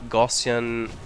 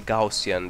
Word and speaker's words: Gaussian: pronounced but it's like gossan distrib distribution I'm not sure how it's pronounced in English uh or it's I think it's gaussian distribution um you should Google